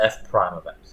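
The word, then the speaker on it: f′(x): This is pronounced f prime of x.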